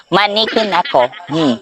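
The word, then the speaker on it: Maneki Neko: Lucky cat in Japanese is Maniki Neko. Oh, perfect pronunciation. Maniki Neko.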